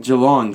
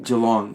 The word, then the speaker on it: Geelong: Geelong, sorry. I don't mind that, though. I've heard many different pronunciations of Geelong. Geelong.